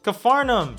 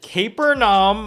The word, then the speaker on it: Capernaum: Cafarnaum, shot on Arri Alexa. I actually had to Google how to pronounce that because I was gonna say Capernaum, or that would have been embarrassing.